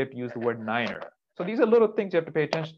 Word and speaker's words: niner: nobody knows okay so the number nine in the fnatic alphabet in aviation shipping and everything else is niner niner and the reason for that is the germans because how do you say no in german nine nine science exactly the same so if somebody tells